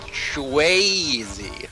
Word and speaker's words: Shwazy: I believe it's pronounced Shwazy, from what you told me before. That is right. He did tell me that we do need to emphasize the way in his name.